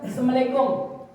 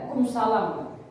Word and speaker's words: assalamualaikum: Salam dipotong, harusnya assalamualaikum, bacanya assalamualaikum. Ya, assalamualaikum, temannya lebih keren, kumsalam.